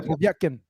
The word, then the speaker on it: Povetkin: Yeah, Povetkin.